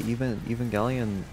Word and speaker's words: Evangelion: Oh yeah, the Evangelion remake. I mean, yeah, rebuilds. It's pronounced Evangelion.